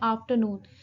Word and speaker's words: afternoon: Guys, जैसे हम इस वर्ड को अगर हम प्रोनाउंस करते हैं आफ्टरनून, तो वी कम टू नो कि जो हमारा जो मेन स्ट्रेस है दैट इज ऑन आफ्टरनून.